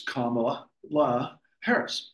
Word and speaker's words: Kamala Harris: Kamala Harris. And you said it correctly. It's Kamala Harris.